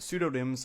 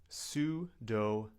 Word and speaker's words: pseudonym: Now, the P is silent. We don't say pu, we say sue. Sudonm.